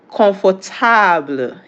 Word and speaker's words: confortable: Comfortable in English is pronounced confortable in French.